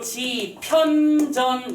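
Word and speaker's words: 집현전: 그래서 이 녀석을 발음대로 지편전 이렇게 쓰지 않는다는 거야. 어떻게? JIP 대시 쓰고 HYUN 이렇게 간다는 거지.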